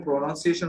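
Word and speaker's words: pronunciation: হ্যাঁ, প্রো, তারপর কি হবে? নান সিয়েশন, এটা আপনি ভেঙে উচ্চারণ করবেন তারপর একসাথে, ঠিক আছে?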